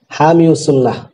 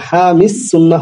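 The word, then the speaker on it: حامي السنة: উচ্চারণ করা হয় না যেমন বলা হয় কি হামিউস সুন্নাহ মাদ্রাসার নাম হামিউস সুন্নাহ হবে কেন কাদিউল কুজাত হয় না কাদিল কুদতি এই ইসমে উচ্চারণে আসবে না অতএব হামিস সুন্নাহ হবে সুন্নাহ হবে না বুঝতে পেরেছ নবম প্রকার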